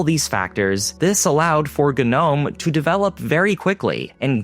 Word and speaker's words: GNOME: So in 1997, Miguel de Kaza and Frederri Gina created the GNU network object model environment or Gnome which is pronounced Gnome in the Linux community.